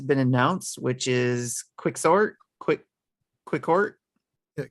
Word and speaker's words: Quixort: Quicksort. Yeah, Pronounced Quicksort.